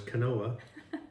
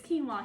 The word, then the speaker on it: quinoa: rice, some quinoa, all also known as canoa. That's what I call it. That's how it's spelled. No matter how many times you tell him it's quinoa, he's going to call it canoa.